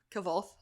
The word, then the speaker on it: Kvothe: How did they pronounce the main character's name? I haven't actually listened to it. Kavoth. Okay. Yeah. Yeah. I was always something reading it that I wasn't really sure how to say it. How's it spelled? Kvothe. Oh, really? Okay, yeah, Kavoth. So, yeah.